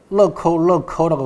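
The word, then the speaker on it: 乐扣乐扣: 러커라고 발음합니다. 그 락앤락하고 비슷하죠, 그죠?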